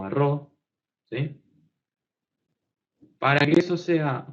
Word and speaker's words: rho: Me parece que es rho. No sé si se escribe así, pero se pronuncia rho.